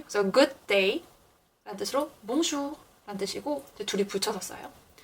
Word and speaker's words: bonjour: bonjour. 절대 R 발음이 르가 아니라 흐예요.